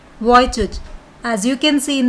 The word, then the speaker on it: Vujicic: So it's a Siberian name, so the pronunciation is different from the spelling. It's Nick Vujicic.